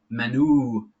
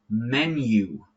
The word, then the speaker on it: menu: And this one, number four, not menu, menu, right? It's just like these two words together. Men and you. Men, you. Okay?